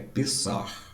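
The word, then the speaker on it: פסח: A pronúncia do hebraico é Pessar. O CH, né, dá uma articulada.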